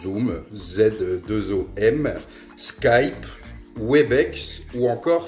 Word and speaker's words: Zoom: Bien sûr, il existe des outils disponibles en accès libre et gratuit et simple d'utilisation comme Zoom, comme ça se prononce, Zoom, Z2OM, Skype, Webex ou encore Framatalk.